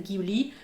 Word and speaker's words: Ghibli: le nom de givry le nom vient d'un avion de reconnaissance italien donc si vous prononcez à la façon italienne ça va être ghibli si vous le prononcer